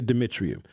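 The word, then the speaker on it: Dumitriu: effects on infants, said Danny, I got to pronounce his name right, Dimitriou. We're going to say Dimitriou, a pediatrician and neuroscientist at Columbia University and chair of an ongoing study on pandemic newborn babies.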